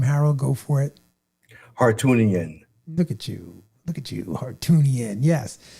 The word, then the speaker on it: Hartunian: Hartunian.